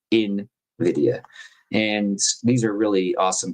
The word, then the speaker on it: Nvidia: I learned to say it the right way. I've been saying it wrong for a few years. Invidia.